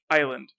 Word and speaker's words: island: thing is like island it's pronounced island right like even though it's i-s-l so it's it's island like he completely cut out the s um and then he